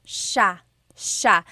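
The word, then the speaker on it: siya: It's sha sha. The s i y combination makes the sha sound in tagalog.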